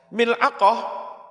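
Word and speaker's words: ملعقة: Mil'aqah, cara membacanya bikasril mim wa sukunil lam wa fathil ain wa yuqalu dikatakan pula milak apa?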